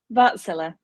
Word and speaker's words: Wärtsilä: Did I pronounce that right, Nicole? Wärtsilä.